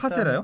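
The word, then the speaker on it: カステラ: JJ도 잘 알겠지만 일본 사람이 L 발음을 못 합니다. 그래서 음. 카스테라가 카스테라 네. 카스테라가 된 겁니다. 일본 사람들이 카스테라 발음할 때 정확하게 카스테라 이렇게 하나요?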